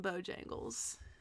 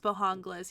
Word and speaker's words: Bojangles: I love me some Bojangles. And it's not pronounced Bohangles, he's lying.